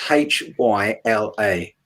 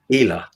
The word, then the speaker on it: Hyla: ones and the european ones the genus is h-y-l-a oh hyla exactly see that's how an english speaker would say it okay it's actually pronounced ela healer the y is is an e sound